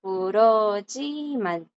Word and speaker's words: 그렇지만: Así es como se escribe, pero esa J que está ahí no se lee. Cuando la J, chicos, está como 받침. Cuando la J es un 받침, siempre queda muda.